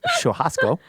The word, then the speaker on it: churrasco: to most Sharia yes I'm using the Brazilian pronunciation of shasco at most Sharia they